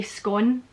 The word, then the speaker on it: scone: scone, but scone or scone, this is more for the Scots, this one. Do you say scone to rhyme with prawn? Or do you say scone to rhyme with phone?